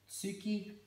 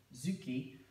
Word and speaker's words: Tsuki: So Tsuki and Zuki, there's a slight difference in the pronunciation, but it's the distinction between when it's part of the word or when it's on its own.